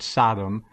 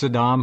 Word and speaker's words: Saddam: pronouncing his name correctly it's not sodom it's saddam hussein and uh your position in